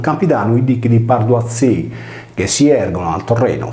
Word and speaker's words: Hethei: Gli Ezzei o Azzei, pronunciato Azzei, in italiano Ettei, furono